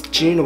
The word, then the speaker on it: Joon: people it's hey so my name is just Jun sang a song and people are like